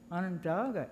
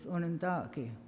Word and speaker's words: Onondaga: our dog of people which by the way isn't even Onondaga it was kind of anglicized by people that came wrong the actual pronunciation is unand doggy that's the way that we pronounce what we call ourselves and that was changed and